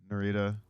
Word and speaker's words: Nerida: uh so with what do you call and Narita Narita right we were like that's how he pronounce it yeah yeah sure um you know